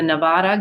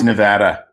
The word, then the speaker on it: Nevada: came out that the Nevada Governor um it's Nevada not Nevada okay we gonna it irritates the living hell of people that live here I'm sorry it's not Oregon it's Oregon I think